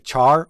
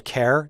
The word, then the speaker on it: char: type that i want to discuss is a char or a care depending on how you pronounce it we've talked mainly about numeric data